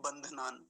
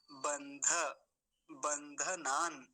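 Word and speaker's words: बन्धनान्: गलती यहां होती है पहले धक को बोलने में इस धक को आधा करते हैं कई बार और कैसे बोलते हैं बंधना बंधना बंधना नहीं बोलेंगे यह गलत उच्चारण है सही उच्चारण क्या होगा बंध बंध नान और यह लास्ट वाला जो नकार है अंतिम वाला ये आधा है तो वही रुक जाएंगे पूरा होता तो क्या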